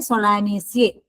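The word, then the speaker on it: Solanaceae: आलू सोलानेसिया फैमिली में आते हैं सोलानेसिए इसको प्रोनाउंस करते सोलानेसिए सो प्लांट्स आर हर्ब शप स्मॉल ट्रीज हर्बी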